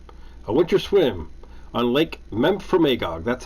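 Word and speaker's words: Memphremagog: play that game a winter swim on lake memph from agog that's how you pronounce that memphry magog mount for magog home of memphry a reported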